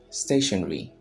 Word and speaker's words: stationery: While the British would say stationery. Stationery. Both sound the same. It's pronounced the same.